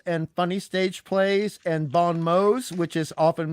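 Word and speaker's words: bon mots: of stage plays and funny stage plays and bond mode which is often mispronounced Bon Ms um and there were a lot of bonm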